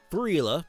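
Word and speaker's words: Giuffria: Called to the Heart by Gria, that's how you pronounce that.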